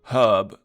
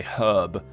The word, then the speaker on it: herb: Let's see, I went up, got the red herb, or herb, rather. Hub. I should say it properly and say herb.